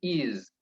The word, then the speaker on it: is: Itu bukan is. Bukan is pakai S seperti bahasa Indonesia, tapi ada Z sedikit. Jadi is. She is. Ya, jadi bunyinya itu ada bunyi Z sedikit, tidak S murni ya.